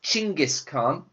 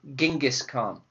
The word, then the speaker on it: Genghis Khan: In Mongolian, it's pronounced Chinggis Khan, okay, and historians think that it comes from the Mongolian word for wolf, which is Chin. But in English today, we say Genghis Khan.